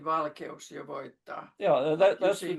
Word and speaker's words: valkeus: Valkeos, well, okay, ooh, that happens to be one of those diphthongs, but not when you break it down by syllables. The or the e and the u are parts of different syllables, no diphthong.